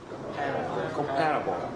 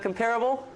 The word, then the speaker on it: comparable: Now how do you say this? Comparable. Comparable? No. No, it's not comparable, she said in the interview. Okay, stress is here.